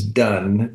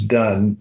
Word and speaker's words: Dunne: testimonies of Christ Dunn I think will take you right to it on any platform and it's du n NE the E is silent correct all right I was